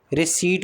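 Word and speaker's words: receipt: रहा है इसके बाद रिसीव रिसीट होता है। ठीक है? पी साइलेंट होता है।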